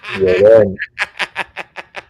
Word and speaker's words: Llorón: Llorón. But you gotta roll the R's.